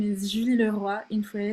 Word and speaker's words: Leroy: Julie Leroy, actually it's Julie Leroy. Roy is like from Quebec, so Julie Leroy. Leroy in English. I guess you're getting that sometimes. So I'm gonna pronounce it both ways.